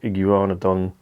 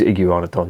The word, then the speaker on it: Iguanodon: mantle's understanding of fossilized iguanadon it is iguanadon that's how you say it iguana don thief discovered in discovered